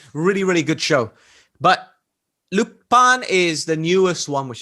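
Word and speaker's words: Lupin: the newer stuff like lupa so that's at time recording loop pin is how it's spelled but lupa is how you pronounce it in french right have you heard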